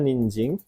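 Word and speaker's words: 人参: ini dibacanya ninjing. Jadi jing dia dibaca bukan sang tapi jing.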